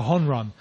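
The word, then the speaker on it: jonrón: write about a homerun they call it a hon run jo n ro n on Ron and so that's the way that they've kind of Spanish sized homerun I suppose to pronounce it like that from no no no no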